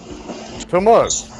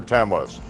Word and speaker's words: Tammuz: Can anyone pronounce that for me? Tammuz.